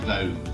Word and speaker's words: Vogue: We pronounce it Vogue, just one word, but yeah, that's right. The pronunciation is just Vogue. We don't pronounce the UE.